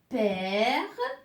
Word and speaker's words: père: Donc, je vais commencer par la mère, la maman, c'est-à-dire père, frère. Alors là, on ouvre un peu la bouche, hein, c'est ouvert.